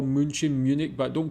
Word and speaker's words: München: It is called München, but I have heard people call it Munich.